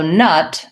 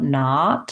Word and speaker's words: nut: peanut to be understood so nut the schwa sound you might have been doing it more like two-tenths like we were talking about not instead of nut not so to